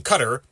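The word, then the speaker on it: Qatar: Knowing that the scene is set in Cutter, yes, that's how it's actually pronounced, the movie gets it wrong.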